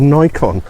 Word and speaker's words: Nikon: the name of this, there's only 1 consonant, which makes it a long Nikon. And it's kind of like the word bike. You've got B-I-K-E, bike. I'm doing an English lesson here. Fun, isn't it? So take the N away, I'll blur it now, and you're left with icon.